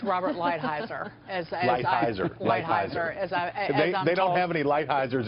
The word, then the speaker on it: Lighthizer: Chris, we get a pass because we're Southern and we mispronounce things anyway, but it's Robert Lighthizer.